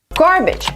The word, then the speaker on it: garbage: would like two lattes garbage some people say garbage garbage disposal but it's actually garbage garbage absolute garbage just exaggerating it garbage is wrong garbage is Right garbage but I know